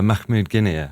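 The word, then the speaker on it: Mahmoud Guinia: in 2014 with I'm going to get his name wrong sorry uh Mahmud Gina Mahmud Gina that was a turning point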